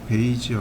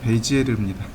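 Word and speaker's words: Bézier: 곡선을 수학적으로 풀어낸 사람이 베이지어 그래요 근데 되게 웃긴게 뭐냐면 이거예요 프랑스말로 베이지가 아니에요 프랑스 발음은 베지르 영 그 미국식 발음으로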